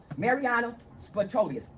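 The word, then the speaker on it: Mariyana Spyropoulos: The judges here are corrupt, along with the new clerk of the court, Mariana Spatrolius, is how you say her name.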